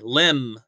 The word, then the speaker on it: limb: limb look at that look at that silent b right there limb okay embrace imma brace